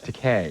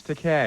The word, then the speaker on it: Takei: George Takei is, it's Takei, by the way. No, it's Takei. Is it? Rhymes with okay.